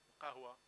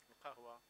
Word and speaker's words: القهوة: coffee, القهوة, القهوة. So note the q sound, okay, is not common in other languages.